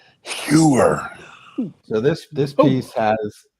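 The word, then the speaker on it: Heuer: do it New York we pronounce it hoer no it's around with sewer oh Herer so this this piece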